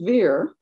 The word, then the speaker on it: Vere: lady maria fair sun fair and veer or ver were similarly pronounced longaville and maria later